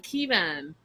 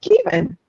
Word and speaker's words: Keavan: They say it like Kevon or Kevin. No, it's Kevon, and I'm gonna continue to say it just like how I'm saying it.